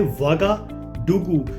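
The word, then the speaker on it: Ouagadougou: चीज ध्यान से रखना इसके स्पेलिंग शुरू होते हैं ओ यू से पर हमने उसको पढ़ना है वागा डगू तो इसको आप फनी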